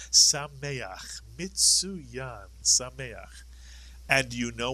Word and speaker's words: Sameach: The word is Sameach is correct. Sameach. Mitsuyan. Sameach. And you know what Sameach means.